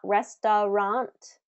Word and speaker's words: restaurant: It's not restaurant, restaurant, restaurant, restaurant. First syllable stress on that.